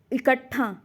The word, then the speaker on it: इकट्ठा: है शुद्ध शब्द है इकट्ठा इकट्ठा शब्द ध्यान रखिएगा शुद्ध शब्द है जिसमें टा का प्रोनाउंस एशन होता है आधा ट और पूरा ठ रहे आधा ट और प्लस